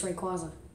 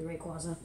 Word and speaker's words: Rayquaza: Sorry, it's not even Rayquaza, you idiot, it's Rayquaza. No, seriously, the official pronunciation is actually Rayquaza.